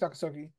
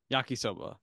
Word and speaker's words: Yakisoba: How do I pronounce that? Yakisoki? I think it's Yakisoki. Eating contest, and someone ate 34 of those squid balls in 15 minutes. Yakisoba.